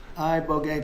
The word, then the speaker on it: ibogaine: Ibogaine. Remember the name. Is that pronounced relatively properly, would you say? Yes. I don't want to get it wrong. Ibogaine, cuz it's so important, and experienced an 80